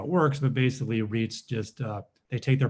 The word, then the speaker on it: REIT: largest uh lodging Reit the acronym is is pronounced Reit um in the uh in the world um